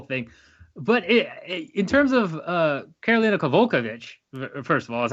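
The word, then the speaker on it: Karolina Kowalkiewicz: But in terms of Karolina Kovalevich, first of all, is how you say her name.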